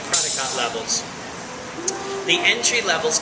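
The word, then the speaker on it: Prädikat: p r a d k a t maybe prodot p r a d y k a t prodot levels the entry level is called qba qba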